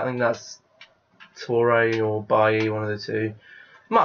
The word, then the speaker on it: Bailly: I think it's Bailly, because it's not Bailey.